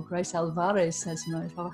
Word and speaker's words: Grace Alvarez Sesma: We have Grace Sesma, or Grace Alvarez Sesma. Have I pronounced that correctly, Grace?